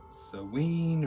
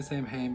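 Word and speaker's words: Samhain: is called Sam Hain, although I know technically it's probably like pronounced Saween, or however you want to say it. I just say Sam Hain because that's how I first heard about it, in the movie Halloween 2, where Dr.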